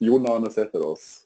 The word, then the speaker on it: Jan Arne Sætheris: Yeah, so it's pronounced Jan Arne Sætheris in Norwegian.